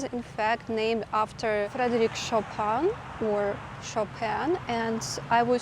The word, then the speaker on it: Chopin: how I learned that it's not Frederick Chopin it's Frederick chopan now I am in